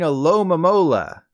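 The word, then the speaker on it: Alomomola: do with your mom instead you should be saying hello mamola I wish there was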